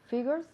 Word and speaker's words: figures: So, notice here, fijaos bien en la pronunciación de esta palabra un poco difícil, ¿no? Figures. Figures. Esa G-U es un poco complicado, pero notice ahora, again, la pronunciación.